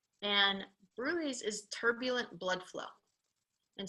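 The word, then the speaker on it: bruit: spelled oops this to go to everybody bruise is spelled b r u since you asked its and bruy is turbulent blood flow and so that murmur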